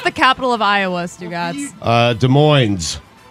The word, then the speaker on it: Des Moines: pronounce the capital of Iowa, Stugotz? Des Moines. Des Moines.